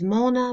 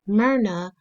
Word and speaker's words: Myrna: I was 4 or 5 years old, and she had a habit of mispronouncing my name. I was Mona, Myra, Myrna. I was everything but Myrna. And so I remember asking her one day after I said it's Myrna, and I wonder how a woman of your years can pronounce two syllables, Myr and Na.